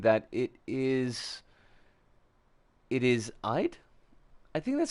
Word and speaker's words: Eid: It's pronounced closer to Eid as an eel. Okay. Eid Mubarak. Eid, not Eid.